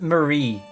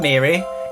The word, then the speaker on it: Marie: you and hide yes it's pronounced Marie it's not Mary it's not Bloody Mary it's bloody Marie and also there's